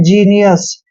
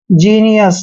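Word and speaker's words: genius: एस इसको पढ़ते हैं जीनियस यहां पर जी का उच्चारण ज क्यों हुआ है क्योंकि जी के बाद ई आया है क्लियर जीनियस जीनियस क्या होता है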